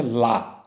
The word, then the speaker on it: la: Definite article আছে এবং সেটার উচ্চারণ হচ্ছে লা, LA।